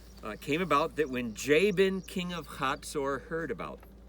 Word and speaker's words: Jabin: Jabin, king of Hazor, Jabin, that's the way it shows up in English. We have in some of these documents out here the name Jabin. They pronounced it Ibni.